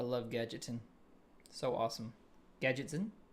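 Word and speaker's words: Gadgetzan: Gadgetsen. Gadgetson. There we go. Someone pointed out in that in the previous video I was mispronouncing something.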